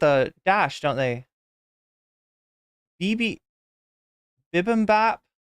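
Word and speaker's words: bibimbap: separate it with a dash don't they BB bibm Bap it's really called bibm Bap Bolivian Peak Macho is is a nice two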